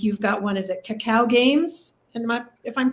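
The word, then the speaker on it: Kakao Games: Is it Cacao Games? And if I'm pronouncing that correctly?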